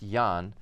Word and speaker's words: Ian: So my first name is Ian, even though technically it's pronounced Jan, but I go as Ian interchangeably because I became